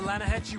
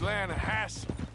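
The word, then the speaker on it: Lannahechee: rolled down to the Lana Hetchy river I caught some beautiful steelhead trout maintenance the Lana Angie it runs right here here yeah but it's pronounced Lana Hass why is everything in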